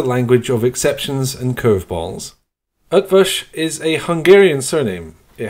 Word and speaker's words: Eötvös: English is a language of exceptions and curveballs up fish is a Hungarian surname it has a silent